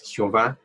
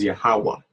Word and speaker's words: Yahweh: Y por el recodo, su nombre no es Jehová, su nombre es Yahweh. Yahweh. ¿Ok? ¿Dónde estamos? Ya. ¿Ok? Ha. Wa. Y Ja al final se pronuncia en silencio.